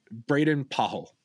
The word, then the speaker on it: Braden Pahl: I went and looked up the pronunciation because I wasn't sure. Braden Pahl.